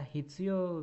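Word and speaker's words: 必要: Oke, berikutnya nomor 16, ada hitsuyo ga aru atau juga hitsuyo ga nai. Oke, saya berikan cara baca ya.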